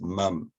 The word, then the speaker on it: mum: means the same but when you abbreviate it to mom in america it's mom mom and in australia it's mum m-u-m uh and i think to